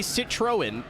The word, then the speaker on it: Citroën: It's very similar the way you pronounce it to the word lemon in French. I think.